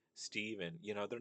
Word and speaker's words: Stephen: well just say Stephen it's Steven not a Stephen there's no E at the beginning you idiot.